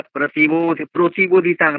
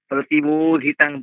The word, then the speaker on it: প্রতিবোধিতাং: পার্থায় প্রতিবোধিতাং নয়, প্রতিবোধিতাং, বোটা দীর্ঘ আবার তাংটা দীর্ঘ।